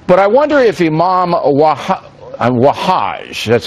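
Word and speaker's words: Wahhaj: But I wonder if Imam Wahaj, that's how you say his name, he's a New York Imam who runs a radical mosque here, as you know.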